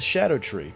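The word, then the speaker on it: Scadutree: earth tree you have the skadoo tree which is pronounced the shadow tree this is Old English but of course I call it the scud tree CU it's funny here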